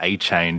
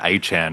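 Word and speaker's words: Achane: Uh which is a new running back thing after Deon Achain became Deon Achan as well.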